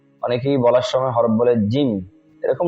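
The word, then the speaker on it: جيم: জি অনেকেই জিম উচ্চারণের সময় ঝি ঝিম এরকম করে আওয়াজ করে মানে তার আওয়াজের সঙ্গে বাতাসের আওয়াজ একটা আসে অথচ জিমের মধ্যে বাতাস চালু নেই অন্য হরফের মধ্যে বাতাস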